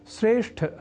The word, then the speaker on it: श्रेष्ठ: वस्तुतः यहां अर्थात श्रेष्ठ शब्द में ठ इस महाप्राण अक्षर का उच्चारण व लेखन लोग ट इस अल्पप्राण स्वरूप वाले अक्षर से परिवर्तित कर दिया करते हैं।